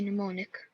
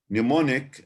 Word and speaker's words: mnemonic: hard or something you can't remember without a mnemonic. Bravo. So we can have a look here at the online dictionary itself and compare. Longman, for example, Longman Dictionary of Contemporary English says mnemonic and gives the pronunciation mnemonic.